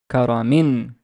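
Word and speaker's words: كَرَمٍ: Kaf has a fatha. The re has a fatha. And the meme has tanween kasra. So it's kara, karamin, karamin, karamin. Remember that the noon is imaginary. We only pronounce it, we never write it.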